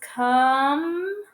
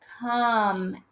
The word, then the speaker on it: come: breaker so it says come come and the e is silent come so we hear